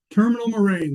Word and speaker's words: Terminal Moraine: How do you pronounce it, Luke? Terminal Moraine? Terminal Moraine, that's correct.